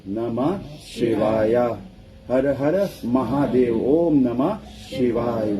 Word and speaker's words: Om Namah Shivaya: Om Namah Shivaya. That's 5 syllables.